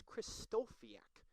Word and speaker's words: Kristofiak: Yes, I say his name a little bit wrong. It is Kristofiak.